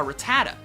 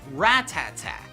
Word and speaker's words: Rattata: as a kid a lot of you probably pronounce it a rattata when in reality it's actually pronounced rat-tat-tat funny right well it gets kind of funnier